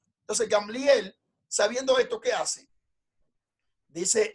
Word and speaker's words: Gamliel: Entonces Gamaliel, sabiendo esto, no se llama Gamliel, no Gamaliel, Gamliel. Entonces Gamliel, sabiendo esto, ¿qué hace?